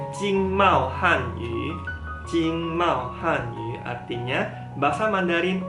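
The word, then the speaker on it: 经贸汉语: Nih bacanya Jingmao Hanyu.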